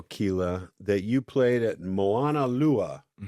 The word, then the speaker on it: Moana: Now, I saw in your bio, Kila, that you played at Moana.